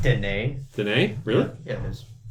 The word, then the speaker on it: Denis: It's like, hey, Dennis. Yeah. Denis. Denis. It's pronounced Denis.